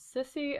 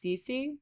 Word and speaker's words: Sissy: Sissy, a young woman. Now, it reads like Sissy, but they keep saying her name is Cece, but it's spelled like Sissy.